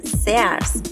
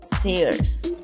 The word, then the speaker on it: Sears: No es Sears, es Sears. No se pronuncia Amazon, se pronuncia Amazon.